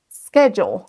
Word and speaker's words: schedule: Schedule. Là, vous entendez un son sk. SK au démarrage. Schedule. Schedule. De nouveau, l'accentuation se fait sur la première syllabe.